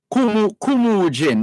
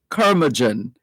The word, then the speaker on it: curmudgeon: Kumujin, mind you, that's an English word. Curmudgeon, I think is how it's properly pronounced. But we call it Kumujin.